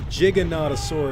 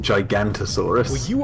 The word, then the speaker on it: Giganotosaurus: know we say gig i think but like giganotosaurus is how i always pronounced it growing up i used to pronounce it gigantosaurus when i was a kid yeah i know